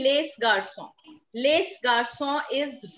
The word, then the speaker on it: les: Les garçons is wrong. What is the pronunciation of L-E-S? Les garçons. Les. It's les.